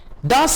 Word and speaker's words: das: Das ist moderne Musik und das, और ये, das का मतलब है this, und das और ये। अब D को आप T प्रोनाउंस करेंगे।